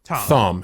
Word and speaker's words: Thom: Or is it Tom? Thom, actually. You call him Thom. That's how he pronounces it.